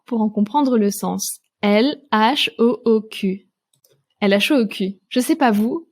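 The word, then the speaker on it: L.H.O.O.Q.: bas de cette reproduction des lettres qu'il faut prononcer à haute voix pour en comprendre le sens l h ou au cul lhooq je sais pas vous mais moi j'adore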